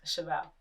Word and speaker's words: Cheval: Cheval. Okay, Cheval. Yeah, it's French for everyone that does not know.